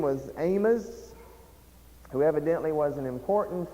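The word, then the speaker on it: Amoz: Notice there's a slight distinction in the pronunciation. Amos ends with a Z, and he's not the same as Amos, who is the prophet Amos.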